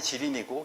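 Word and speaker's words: 吉林: 아이고, 좀 많이 잘렸는데 길림이 길림도 발음이 지린이고 개림도 지린이다. 지린이라고 한다는 거죠.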